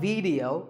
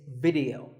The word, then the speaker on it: video: watching right now video the important thing is that both the I and the e are pronounced as short if sounds it's not video it's video if you watch a